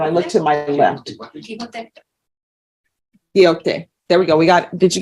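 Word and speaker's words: Quijote: I want to say Kijoto or Joti, Q-U-I-J-O-T-E. And I look to my left. Quixote.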